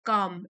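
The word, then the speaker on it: calm: काम L silent है।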